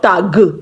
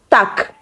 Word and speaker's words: Tag: So it's not Tag, but Tag, Tag, Tag.